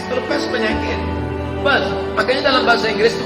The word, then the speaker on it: Perth: I am going to Perth. Bukan pest, kalau pest penyakit. Perth.